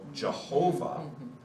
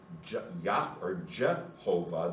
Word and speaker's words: Jehovah: But Jehovah, the J is the German way that the name for Yahweh in the Old Testament is transliterated. Yep. And so the letter J in German is pronounced Yot. So it sounds like a nice Y. In English it becomes J. So all of the J sounds are wrong. Every last one of them.